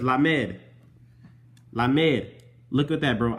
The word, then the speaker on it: lamed: This says Lamed. Lamed. Look at that, bro. I put it exactly how it's spelled, bro.